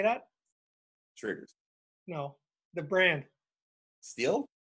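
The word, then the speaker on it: Stihl: Steel? I think it's steel. Steel chainsaws. You said still a second ago. I know, I said it wrong.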